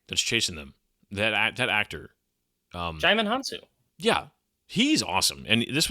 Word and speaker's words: Djimon Hounsou: And, I, as a joke, because I could not pronounce his name, I called him Digimon Handsoap for several years.